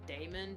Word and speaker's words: Damon: I personally pronounce it Damon because it's spelled uh you guys can't see